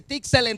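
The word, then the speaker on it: צלם: Se escribe esa palabra, es así que se dice Tselem, terminado en M, y significa sombra, significa imagen.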